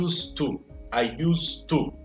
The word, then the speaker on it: used to: I used to, né? Então, isso daqui eu vou pronunciar com o som de S e vou juntar. Não vou pronunciar o D, já vou direto para o som do D.